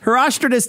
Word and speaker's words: Herostratus: Hero Stratus. No. Herostratus. I like decides Herostratus. That's a baller name. Herostratus is the guy who jumped out of the Red Bull thing. That's the Yeah, exactly. Herostratus decides to get his name in the pages